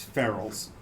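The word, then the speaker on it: Feral's: One is the name on the place is Ferrell's, I love that ice cream. but it's spelled FERAL''S.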